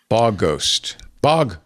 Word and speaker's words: Bogost: Did you get a pronunciation guide? Claude told me it was Bogost.